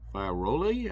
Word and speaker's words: Fiorelli: brought to us by Steve Foxe and Ivan Fiorelli, I believe that's how it's pronounced. It's Fiorelli.